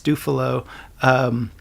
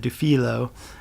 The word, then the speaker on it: Dufilho: It's Dufilho. Some people pronounce it Dufilho.